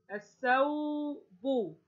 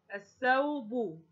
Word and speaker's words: الثوب: شمسية، لأن الثاء من حروف أو من أخوات اللام الشمسية، تبقى اللام لا تنطق والثاء هتنطق مرتان اسنان، الأول ساكن والثاني متحرك، وحركتها هنا الفتحة، يبقى أنا أضع شدة وفتحة، فتنطق الث، الث، الثوب، الثوب، يبقى عندنا الثوب شدة